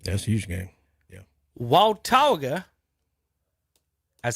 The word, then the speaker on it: Watauga: okay i'm just letting you know it's not wataga walter waltoga okay all right um at least at the